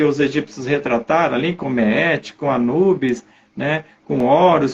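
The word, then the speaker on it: Maat: Isso foi representado pelos egípcios como o salão de Meet, escreve M-A-A-T, né? Mas se fala, né? A maneira de se pronunciar é Meet.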